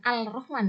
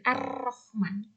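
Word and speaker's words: الرحمن: Jadi cara membacanya memasukkan al ke dalam huruf syamsiyah, huruf di depannya. Masukkan al ke dalam ro, jadi Ar-Rahman. Bukan Al-Rahman ya, tapi Ar-Rahman.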